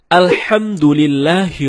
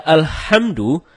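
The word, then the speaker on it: الحمد لله: Nah, ada yang membaca Alhamdu tidak menggunakan H dalam kerongkongan. Kalau kita membaca Alhamdulillah dengan H dalam kerongkongan, ya artinya segala puji bagi Allah. Nah, sebaliknya, kalau kita baca Alhamdu, H bukan tenggorokan, maka artinya segala kematian.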